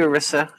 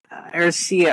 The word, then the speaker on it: Arisia: Arisia, I always pronounce your name wrong. Arisia. Did I get it right? Did I get it right? Arisia? Yes! Nobody says her name right. I was determined to say her name right. Arisia. She's been on the team for how many years? And we've never pronounced her name right. Almost three, right? I've pronounced it right bad. Twice. But I always forget. I always say Arissa.